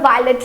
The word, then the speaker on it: violette: For the feminine it is V-I-O-L-E-T-T-E and the pronunciation is violet.